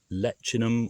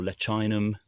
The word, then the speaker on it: Leccinum: So this is Leccinum or Leccinum, depending how you want to pronounce it, aurantiacum.